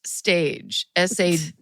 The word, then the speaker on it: stage: And then in parentheses, it says pronounced stage, S-T-A-J. So it's stage? Stage. Because that J is not a G, no.